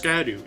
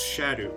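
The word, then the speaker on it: Scadu: That's why you had to use the shadow tree fragments, which is not pronounced Skadu. It's pronounced Shadow.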